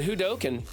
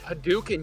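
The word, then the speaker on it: Hadouken: whatever uh hoken that's that's the best one hoken it's haduken you idiot daking like you're from Boston you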